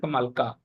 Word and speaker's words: Alaka: is a place called alaka which is then a settlement of Kua so that currently known as Alka I mean same as alaka so it's in Hindi pronunciation Alka like that so all these places